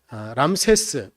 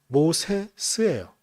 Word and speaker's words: 람세스: 근데 이게 원래는 람세스, 우리는 발음을 그렇게 하는데 원래 이집트어로 좀 하면 라모세스예요.